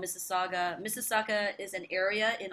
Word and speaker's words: Mississauga: name of your first on massage i always mispronounce it mesega masaga saga yeah mississauga yeah it's got that head nod and hardcore